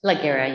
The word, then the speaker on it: Laguerre: Are you Laguerre? Yes, sir. How do you say your last name? Laguerre, you said it correctly.